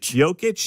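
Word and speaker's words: Jokić: Nikola Jokic? Jokic.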